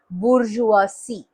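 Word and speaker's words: bourgeoisie: उसका प्लूरल जो यहां पे बी ओ यू आर जी ई ओ आई एस आई ई है स्पेलिंग बट उसको प्रोनाउंस करेंगे हम बुर्जुआसी ठीक है तो नाउ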